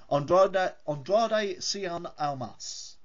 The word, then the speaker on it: Andrade Cien Almas: and I'm going to completely cock up the pronunciation of this, Andrade Cien Almas.